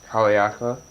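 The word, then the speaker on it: Haleakalā: yeah uh so today we went up to haleakala is that how you pronounce it that is job haleakala which was a used to be a volcano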